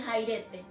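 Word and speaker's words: χαίρετε: La palabra gozao significa en el griego saipete y se pronuncia jairete.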